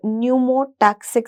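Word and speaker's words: pneumotaxic: और इसके साथ-साथ भी एक और सेंटर है which is known as न्यूमोटक्सिक centre. P silent होता है इसमें।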